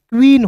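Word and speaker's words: queen: देखिएगा क्यू यू। तो क्यू यू को क्या पढ़ेंगे दोस्तों? क्वा लिखिएगा। ठीक है? अब जब भी किसी वर्ड्स के बीच में डबल ई रहेगा तो इसका उच्चारण इ के रूप में करेंगे। एन का उच्चारण न के रूप में। तो क्या हो जाएगा दोस्तों? क्वीन हो जाएगा। तो क्यू U double E एन क्वीन हो जाएगा।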